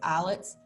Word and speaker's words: islets: islets and i said i know it's eyelets i say islets so that you can spell it correctly because remember spelling is